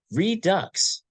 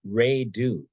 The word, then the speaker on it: Redux: And it's entitled Redux is not pronounced Redo, but that hasn't stopped me.